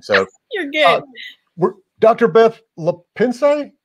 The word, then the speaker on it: LaPensee: Beth LaPensee? LaPensee, but you know what?